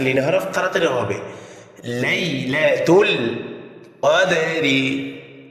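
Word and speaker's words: قَدْرِ: পরে ইয়া সাকিন লিন হরফ তাড়াতাড়ি হবে লাইলাতুল কদরি কদারি কাফ দাল জবর কদর দাল কল হরফ প্রতিদ্বনিক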